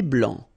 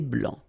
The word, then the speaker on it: blanc: thé vert, un thé blanc, final C not pronounced, un thé blanc, ok?